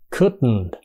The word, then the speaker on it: could: múa đó h ch couldn't understand h ch couldn't là nói tắc của sức could not là